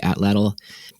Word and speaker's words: atlatl: And when we got to, or not we, like when the Europeans arrived in the Americas, we called it the atlatl, which is how you say atlatl, because that was the Nahuatl or the Aztec word for it.